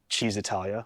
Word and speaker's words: Cisitalia: So this is an Allied Swallow, which is an exact copy of the Cisitalia, which I know I'm pronouncing wrong, but I hate saying it, Cheesitalia, which is technically the correct way to pronounce it.